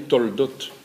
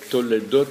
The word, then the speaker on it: Toledot: Et en fait, on dit Toldot, puisque Toledot, il y a une voyelle qui rend muet le lamed de l'enseignement.